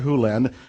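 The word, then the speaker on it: Hew Len: to dr len but it's actually dr hulen if you want to say his name correctly in dr hulen's world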